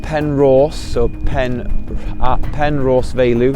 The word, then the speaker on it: Penrhos: whole of the UK other than glastenbury um it's spelled pen Ross So pen pen Ross veu it's um it's